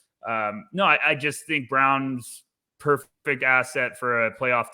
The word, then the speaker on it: Braun: so i just think braun could be brown i i can't ever say his name right i want us i want to say it away we're saying yeah i mean we went through it right before we hit record i'm saying brown if everyone wants to